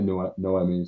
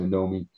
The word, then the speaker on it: Noemi: Well, with Noemi, or I've heard dual pronunciations. I say Noemi, some people say Nomi, but with Noemi, she was a character, of course, that was in Sisters of the Lost Nation.